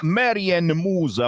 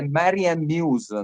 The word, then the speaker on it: Marianne Muse: quella che canta, che si chiama Marianne Musa, magari sbaglio la pronuncia, lo chiedo a Luca che abbiamo ritrovato. Ciao Luca. Ciao, eccoci qua. Lei è Marianne Muse, nome d'arte, nome di combattimento.